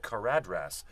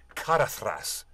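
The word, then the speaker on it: Caradhras: you when in Elvish in the Elvish construct when you put a d and an H together it's like a t sound like a that's probably why it get mispronounced all the time yes when I was a child I read kadras and I always thought the mountain was called kadras years later Ian McKellen tells me it's kathas and I'm like oh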